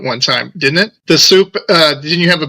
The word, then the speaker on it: Supe: I've been Soup since 1969. It's a uh it's a nickname that I acquired and I just kind of stopped fighting it and you know that's why it's spelled S U P E, right?